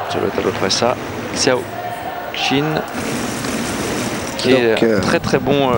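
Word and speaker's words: Xiao Qin: tchao chine je peux très bien mais on prononce sur le tas d'autres ça xiao xin qui est très très bon généraliste très fort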